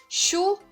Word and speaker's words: Schuh: Ele vai ter esse som de X, então Schuh, né, que é sapato, Schuh, Deutschland, né?